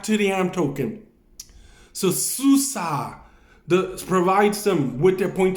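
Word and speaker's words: SUSE: It's phonetically pronounced differently than the way you spell it. Susa. It sounds like it's spelled like sushi. But you don't say it that way.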